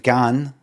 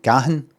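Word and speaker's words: Dave Gahan: Um and there's Dave Gan. That's how you say his name. G A Hen Gan. Gan.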